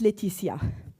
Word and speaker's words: Lætitia: My name is Leticia which is obviously French. And uh don't look at how it's spelled. This is a Latin spelling, so don't look at it. It's pronounced Leticia. Um, I'm a Posgress SQL DBA since 2007.